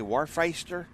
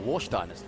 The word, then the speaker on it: Warsteiner: Warfeister? Warfmeister. Hang on, where are you? Right, Warsteiner.